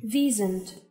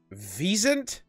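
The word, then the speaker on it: wisent: isn't wasn't hang on how to pronounce w-i-s-e-n-t visent wait visent how the where is the V sound coming from you guys apparently weren't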